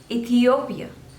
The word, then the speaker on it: Ethiopia: England next is Ethiopia Ethiopia so there are fourth labels and you have to stress on the third one Ethiopia Ethiopia Ethiopia Ethiopia